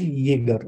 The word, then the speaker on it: Jaeger: It is pronounced as Jaeger.